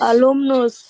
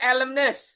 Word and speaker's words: alumnus: Alumnus. Oke. Bukan alumnus ya. Kalau alumnus itu bahasa Indonesia, Guys. Kalau bahasa Inggris dibacain itu elemness. Elmness. Elmness. Oh, elem. Elmness. Elm. Elemness. Elmness. Bukan Elon Mas.